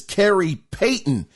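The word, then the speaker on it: Khary Payton: himself which I believe his name is Carrie Payton if I'm not hopefully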